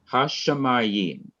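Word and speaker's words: הַשָּׁמַיִם: The accent is on the syllable before the last syllable, the syllable ma.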